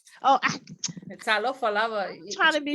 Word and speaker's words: Talofa lava: Telofa lave, sis. Lava, is that lave? Lava. Oh, Talofa lava.